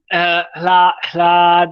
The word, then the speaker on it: ह्लाद: हा है ना, वो हा आधा है और ला पूरा बोलेंगे हम। तो आपको यहाँ ह्लाद, ह्लाद ऐसे बोलना है। कैसे? ते ह्लाद, ह्लाद, हा को थोड़ी देर के लिए, शॉर्ट टर्म के लिए प्रोनाउंस करना है, और ला को थोड़ा समय लेना है।